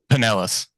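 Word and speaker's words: Pinellas: Paneas, is that how you pronounce it? Panelis.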